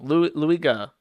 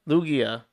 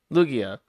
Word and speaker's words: Lugia: Lu I can't pronounce his name. Luigga Lugia. Lugia.